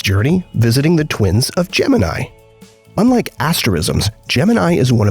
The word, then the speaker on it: Gemini: But while the constellation is pronounced Gemini, not everyone knows that the name of the NASA program was usually pronounced Gemini within the space agency.